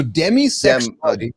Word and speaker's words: demisexual: So demi like demi Moore. So demisexual D M I.